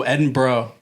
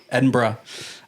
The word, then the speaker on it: Edinburgh: Ed Oh, Edinburgh. Edinburgh. Yeah. They they always say just sound like you're saying bruh. Edinburgh.